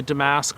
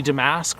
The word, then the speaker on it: damask: rose, where I hear the British pronunciation is a little closer to Damask or something like that, where they put the and I've probably even said that not to their liking, but the emphasis on the first syllable and the second usk is a different sound than what I say is the more Americanized Damask.